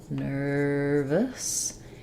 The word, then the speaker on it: nervous: out that word so in the word uh nervous we have first syllable stress nervous and so um the Nur syllable has our stressed R sound I often write that